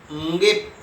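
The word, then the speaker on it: ङिप्: ङिप, एक बार मैं और कहूँ, ङिप। बच्चे कदाचित अशुद्ध उच्चारण करते हैं, कोई डिप कहता है, इसीलिए ङिप इसका सही उच्चारण होना चाहिए।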